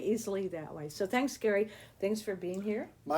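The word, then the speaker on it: Gery: So, if you're looking him up, it's Ge R Y Barker, but it's pronounced Gary.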